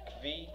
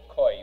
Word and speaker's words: kvi: The Hebrew word is kvi. People write koi, but I think the pronunciation would be kvi.